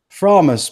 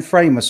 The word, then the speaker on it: Framus: by the Warwick Framus promise people now I've been saying frame us all this time and somebody corrected me the other day apparently the Germans pronounced its promise is that right promise